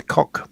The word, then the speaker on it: Koch: because people like the Koch brothers, which I think is a highly appropriate name for those two. Coke. It's actually Coke. Oh, Coke, is it?